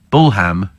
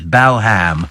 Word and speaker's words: Balham: talk about clam and where bull ham for balam yes balham gateway to the south